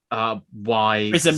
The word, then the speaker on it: Prism: So it's spelled PRY. Prism, like as in prison, the shape.